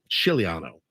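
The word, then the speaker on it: Scigliano: Shilo G in his there is silent g yep chilano Frank the Tank he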